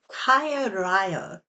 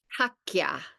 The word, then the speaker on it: Qhaqya: Is it Kaya Ryo? the lightning bolt. How do you pronounce that? Okay. It's Hakya. So it's Hakya. two K, it's two Q, it's two Q's, right?